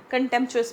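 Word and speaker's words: contentious: कंटेंट यहां पे अ टी है लेकिन हम इसको कंटेंचस प्रोनाउंस करेंगे।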